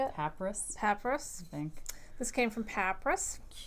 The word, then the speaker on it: Papyrus: Is it like papyrus, like the paper? Yes. Papyrus paper? I So think that's what it is. it's Papyrus. R-U-S, yeah. So how did you say it? Papyrus.